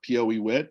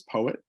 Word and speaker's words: PoEWit: poet uh we have we've had people call it Poe wit but uh the official uh pronunciation is poet uh so we are